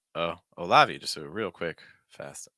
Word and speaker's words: Olavi: interesting okay uh olavi olavi is how I'd say that stress like a Sy um no that that first like oh oh olavi just so real quick